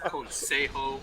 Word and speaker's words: Consejo: It's pronounced Consejo.